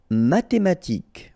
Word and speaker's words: mathématique: Mathématique, remember, H doesn't exist, so mathématique. Remember, Q-U-E at the end, K. Mathématique.